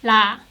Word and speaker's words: ㄹ: l sound but again it's not like l or r because this is not an english it's just sound like la lo lo and so on i've seen many many korean learners have difficulty pronouncing this lear sound but when you pronounce this layer your tongue has to slightly hit behind your upper teeth like la la la your tongue has to place more forward area la la compared to